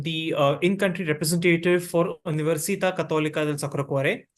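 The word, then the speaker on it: Università Cattolica del Sacro Cuore: in country representative for universita cathol sakare so this is typically how it's pronounced in Italian because we are an Italian University uh so this is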